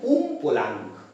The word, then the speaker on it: Umpolung: পি ও এল ইউ এনজি একে আমরা বলি উম পোলাং উচ্চারণটা খেয়াল করো উমপোলাং যারা বাংলায় জন্য তাদেরকে উমপলা